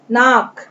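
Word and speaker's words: knee: Knows, नाक। Pigeon, कबूतर, pigeon, pigeon, कबूतर। देन नी, यहाँ पे अब हम साइलेंट लेटर्स पढ़ रहे हैं, जो लेटर्स शांत होते हैं जिन्हें बोला नहीं जाता। नी, घुटना।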